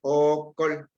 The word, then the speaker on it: okol: La primera vocal es una vocal larga, es okol.